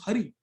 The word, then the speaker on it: Hari: just said hurry up, लेकिन हरी HURRY is हरी, HARI, same pronunciation, तब भी नाम लेने का फल मिलेगा।